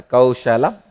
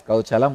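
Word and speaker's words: कौशलम्: I am not going to pronounce this as a Kaushalam. I'll call it as Kauchalam only.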